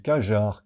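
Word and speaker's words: qajar: facin f A Q U I N et Kajar Q A J A R E Q A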